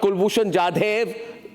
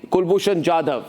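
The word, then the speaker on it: Kulbhushan Jadhav: Not Kulbushan Jade. Kulbushan Jadav.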